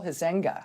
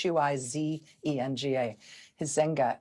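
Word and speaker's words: Huizenga: Republican Congressman Bill Hisa, I think that's how you say his name. It's hu zen gaenga. Um he held a telet town hall this weekend with his constituents.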